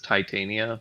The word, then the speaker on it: Titania: I always said it with tit in the name, and then some other people said it was Titania, like Titanic.